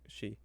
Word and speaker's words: Sidh: I believe it's pronounced Shi, though. It's She. It's a, like, Gaelic fairy, I think.